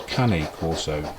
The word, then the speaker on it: cane corso: That's Dante, the Italian Mastiff, also known as a cane corso or a cane corso as they pronounce it in America, but I prefer cane corso.